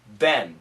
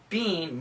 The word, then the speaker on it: been: have been American pronunciation Ben b e e n we don't say Bean most Americans don't say Bean we usually say Ben b n there have